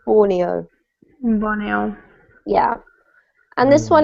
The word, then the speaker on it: Borneo: We pronounce the country in English Borneo, okay? Borneo.